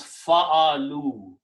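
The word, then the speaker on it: فعلوا: whenever we put that, we put an extra alif, which is not pronounced. It's called alif firqaya or alif separation. So now when we pronounce this, we change the sound of this fatha to a dhamma and combine with the waw. So it becomes fa'alu.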